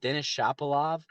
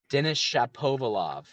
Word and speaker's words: Denis Shapovalov: He's got Denis Shapovalov and I butchered that. Hold on. Denis Shapovalov.